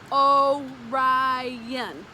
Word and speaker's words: Orion: the hunter's name is orion you say it like this oh ryan he could be seen